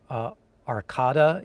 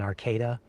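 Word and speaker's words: Arcata: And I think I said Arcada instead of the correct pronunciation, Arcada.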